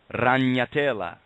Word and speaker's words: ragnatela: Well, a spider web in Latin is called ragnatela, and that's spelled R-A, ra, G-N-A-T-E-L-A. And what it means is the web of the spider, ragnatela.